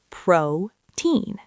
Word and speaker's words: protein: We continue with protein, placing the stress on the first syllable, protein.